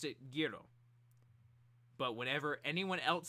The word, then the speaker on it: Gyro: gyro I know over here in America we pronounce it gyro whoever that dad's a Pelle it comes from Italy and they're they pronounce it Giro heroes that's how you pronounce it in Italian